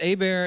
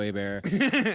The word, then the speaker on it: Hebert: was like, uh it's A bear unless it has an R then it's also A bear.